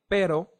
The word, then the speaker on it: pero: take a look at the softer sound first which is very similar to the one in latter is very similar but not the same for example the word pero means pero means but another example will be